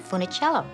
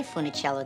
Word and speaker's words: Funicello: change my name because nobody could pronounce funnicello and we didn't even say funnicello then my mom and dad sort of americanized it and pronounced it funnicello so i went to